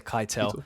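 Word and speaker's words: Keitel: is it is it Kel I always say kitel so yeah Harvey kitel as that FBI agent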